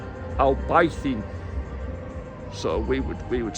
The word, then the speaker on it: Albaicín: it really, which is called, by all accounts, pronounced Albaicín. So we would say Albaicín, but it looks something like that.